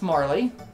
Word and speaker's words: Marle: That's Marley, or Marl. I've heard people pronounce. I say Marley.